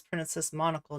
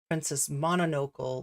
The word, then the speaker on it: Princess Monocle: Oh my God, Princess Monocle, whose name I always almost mispronounce, but it's Princess Monocle, not Princess Mononocle, like I always want to say.